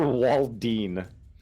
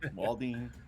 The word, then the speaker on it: Walden: Walden. I've heard his name pronounced and spelled so many different ways. Walden, Waldine. Wow. I think Walden.